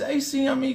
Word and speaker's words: Acme: What the hell is ACME Corporation?